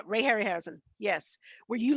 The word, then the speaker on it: Harryhausen: Like, I remember watching growing up, is it Harry Rasmussen? Is that how you pronounce his last name? Who did a lot of stop motion? Harryhausen. Okay, Hausen. Ray Harryhausen. Yeah, Ray Harryhausen.